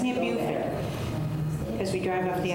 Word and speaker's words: Beaufort: So past that, it's near Beaufort. Because we drive off the island and go into Is Beaufort. that how they pronounce it down there?